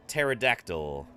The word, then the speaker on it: pterodactyl: the front just like just like the word pterodactyl yeah that's actually uh an old joke yeah